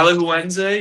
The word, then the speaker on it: Alajuelense: Alajuelense?